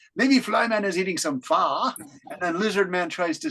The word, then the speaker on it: pho: In English, we say pho, P-H-O, but you have a different pronunciation of this famous soup, pho.